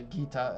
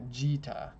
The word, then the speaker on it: Gita: on the channel and I pronounce a kita and they're like no this word is like an Italian word or something I don't know and it's pronounced differently so yeah Gita it's how the Japanese